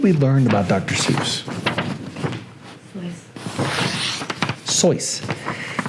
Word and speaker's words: Seuss: Seuss sois he pronounce his last name sois but he decided to